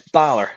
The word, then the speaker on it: Balor: have been a bad start did did I pronounce it right is it Bor so it's Balor H Bor okay yeah don't worry you're not